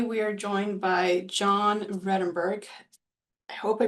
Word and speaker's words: Vredenburg: And today we are joined by John Redenburgg. I hope I pronounced your last name correctly, John.